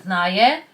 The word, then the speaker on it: 나의: I know that it's romanized as UI, but when you have UI or we at the end of a word, the pronunciation changes to e or ye. So this is pronounced as 나의, and it means my